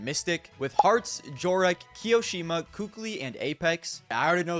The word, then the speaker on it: Kukli: Some people say Kali. I'm calling him Kukli. I always called him Kukli. Kukli sounds better to me.